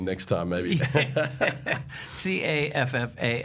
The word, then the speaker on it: Caffall: C A F F A L L. Pronounced caffel. Looks like a fall, but it's pronounced caff.